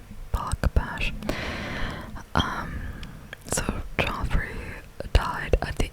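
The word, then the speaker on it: Bache: I think that's how you pronounce his last name, Bash.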